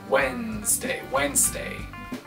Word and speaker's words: Wednesday: Attention à la prononciation de Wednesday. Le mot s'écrit avec un D qu'on n'entend pas à l'oral. Wednesday.